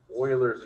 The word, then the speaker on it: Euler: called or his name euler's number that's pronounced spoilers it's kind of like the old football team but y'all uh there's